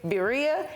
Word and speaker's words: birria: on these These are bira did I say it right yes you can say bira if you can't roll your tongue it's okay you you